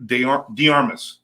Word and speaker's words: DeArmas: It's Jason Blasi and DeArmas. Yes, sir. Did I say it right? Yeah, absolutely DeArmas? correct. And Blasi, right? Yes. Right? Okay. I got it right.